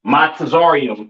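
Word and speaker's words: מצרים: Uh, Mizraim, all right, aka your Egyptians, all right, pronounced Matazarium in the Hebrew, Matazarium in the Hebrew, all right.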